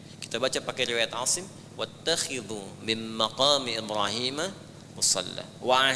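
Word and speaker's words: وَاتَّخِذُوا: Wattakhidhu min maqami Ibrahim musalla. Kalau di riwayat Warash atau Qalun itu dibacanya wattakhadhu. Riwayat Hafiz dari Asim wattakhidhu. Ya, kita baca pakai riwayat Asim wattakhidhu min maqami Ibrahim musalla.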